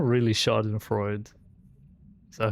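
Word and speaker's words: Schadenfreude: Yeah, it's not really Shardan Freud. Is that how you say it? Shardan Freder.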